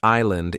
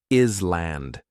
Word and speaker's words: island: The word island is hard because the S is silent. Many learners want to say island.